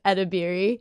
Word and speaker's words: Edebiri: Which is when you see someone's name and you assume that it's harder than it actually is because it's literally how it's spelled, which is Edebiri.